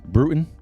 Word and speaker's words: Bruton: Oh, by the way, how do you say your last name? Bruton? Yes, correct, Bruton.